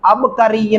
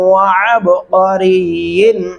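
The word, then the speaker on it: عبقري: گلے سے ادا ہوگا، اب کری نہیں پڑھنا، اب با پہ قلقلہ ہوگا، اب کری جن، یہ دیکھیں اب کری جن، یہ قلقلہ نہیں ہوا، اب ایسے پڑھنا ہے، اب قاری جن حسان۔ پوری آیت کو سن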